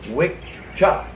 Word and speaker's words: Wicca: the old Gaelic languages, when there was a double C in the word, it wasn't pronounced "ka." It wasn't pronounced "Wicca." The double C in Old Gaelic is pronounced "cha." So the word was pronounced way back when as "Wicca."